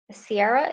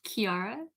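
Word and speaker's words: Ciara: thanks so much uh sierra is that how you say your name i'm sorry has raised her hand uh my name is pronounced kiara thank you quarantine and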